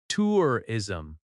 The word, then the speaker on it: tourism: The R sound is strong in American English. Tourism. I'm here for tourism. Slow. Tourism. Natural. Tourism. Make sure the first syllable is clear and strong.